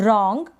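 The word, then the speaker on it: wrong: प्रणव सो रहा है डब्लू लगा हुआ है इसका उच्चारण नहीं हो रहा तो डब्लू आलू को हम पढेंगे र यानि डब्लू का उच्चारण नहीं होगा तो यह है रंग क्या है और रॉन्ग यह जो एन है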